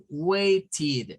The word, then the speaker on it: waited: With ED, and what about the pronunciation? Waiting. Waited, okay, with that ED.